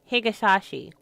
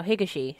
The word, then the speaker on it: Higashi: To get back further, you'll have to talk to its president and formal owner, a man named Ichi Higasashi. Oh, Higashi. Sorry. I added a whole different syllable.